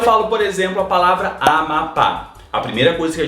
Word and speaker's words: Amapá: Quando eu falo, por exemplo, a palavra Amapá, a primeira coisa que a gente faz é dividir silabicamente e a gente percebe que a sílaba mais forte é a última, ou seja, Amapá É uma oxítona.